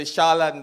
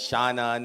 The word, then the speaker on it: Shaolan: I'm used to I'm used to Shaolan being pronounced as Shannon and in Asia Shaon because they pronounce the L's and the R the same.